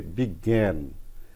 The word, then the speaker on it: বিজ্ঞান: শেষে বসে তাহলে প্রথমত এই বর্ণের পরিবর্তে ডবল গ এর উচ্চারণ হয় এবং প্রথম গ এর